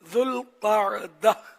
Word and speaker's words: ذوالقعدہ: والا مہینہ، حرمت والا ذوالقعدہ. اسے ذیقعد بھی کہا جاتا ہے. ذوالقعدہ 2 لفظوں سے مل کر بنا ہے، ایک ذو اور دوسرا القاعدہ. اس کا درست تلفظ یہ ہے ذوالقعدہ.